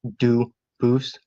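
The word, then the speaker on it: Dubois: get your name straight I know a family with that the same exact spelling in American they do pronounce it dubis but you said you pronounce Ito as the original du Boose as the original French French yep very well doose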